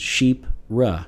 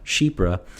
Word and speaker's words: chypre: you guys know that it's c-h-y-p-r-e and it's pronounced sheep ra shebra and it looks it looks like chipper or